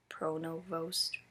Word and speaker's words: Pronovost: okay so after watching the video of mr. pronovost beeping that's how you pronounce it um he demonstrated communicating